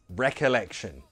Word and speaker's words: recollection: Pronunciation. Recollection. Recollection. Recollection. The stress is here. Recollection.